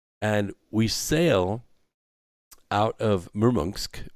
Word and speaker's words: Murmansk: we sail out of murmursk which is spelled murmansk but it's pronounced the murmunsk it's kind of a